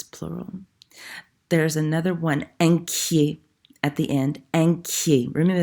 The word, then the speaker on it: inquiet: There's another one, inquiet, at the end. Inquiet. Remember, that means worried. Inquiet is the masculine form.